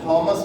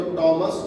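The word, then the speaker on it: Thomas: थॉमस रो, थॉमस भी बोल दिया जाता है। एच लेके पढ़ोगे तो थॉमस पढ़ोगे, एच साइलेंट करके पढ़ोगे तो टॉमस रो।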